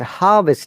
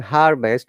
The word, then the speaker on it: harvest: plenty of water at harvest time remember this pronunciation harvest with our american pronunciation without r is the british pronunciation harvest okay so what does